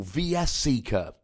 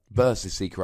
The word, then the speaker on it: VS Seeker: cards like Ultra Ball, VS Seeker, Versus Seeker, I should say. That's the proper pronunciation.